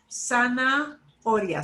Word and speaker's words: zanahoria: And the H is right, problematically sticking right in the middle of the word. Zanahoria. Split it into two parts.